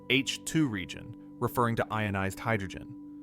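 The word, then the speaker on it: H II: More specifically, an H2 region, pronounced H2 region, referring to ionized hydrogen.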